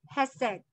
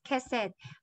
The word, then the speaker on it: Hesed: So the translation of that, this love, if you go back, the Hebrew word is Hesed, or they pronounce it as Kesed, but it is spelled as H-E-S-E-D.